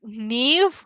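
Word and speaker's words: Niamh: I also learned how to pronounce like Neve, which is like spelled as Niam.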